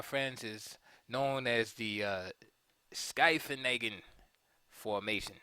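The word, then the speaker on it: Scheveningen: And this, my friends, is known as the Skyfenagen formation. Some people say Shaveneggen, but I think it's pronounced Skyfenagen.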